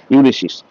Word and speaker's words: Ulysses: যদিও আজকে আমাদের পাঠ্য বিষয় হচ্ছে ইউলিসিস।